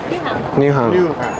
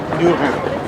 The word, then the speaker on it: Nyhavn: Nyhavn. Nyhavn.